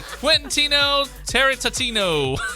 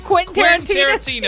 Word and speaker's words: Quentin Tarantino: Number 3, Quentino Tarantino. What? I can never say his name. Quentin Tarantino.